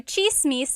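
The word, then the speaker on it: tsismis: One thing, in Tagalog, it's spelled with a TS. The TS combination makes that ch sound.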